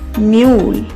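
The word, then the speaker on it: mule: एल से ल और इ साइलेंट रहेगा क्योंकि ये दूसरा वोवेल है तो इस वर्ड को बोलेंगे मैं यू ल म्यूल म्यूल म्यूल का अर्थ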